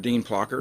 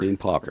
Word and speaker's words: Plocker: How's it pronounced? Dean Plocker. Dean Plocker.